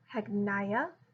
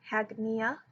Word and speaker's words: Hagneia: Today we are talking about Hagneia or Hagneia, depends on how you want to pronounce it. I've seen both as pronunciations.